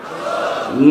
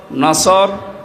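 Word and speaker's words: نصر: কোরআন মাহফিলে প্রবেশ করছি সূরা নসর কোন সূরা নসর বলেন বলেন নাসর নসর না নাসর নাসর নুন সোয়াদ র নাসরুন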